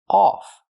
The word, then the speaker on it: off: the word is off we cannot use the short uh sound like cup and up U the word is pronounced off we use the a sound like on off ball call Audio a a it's back here off off they cut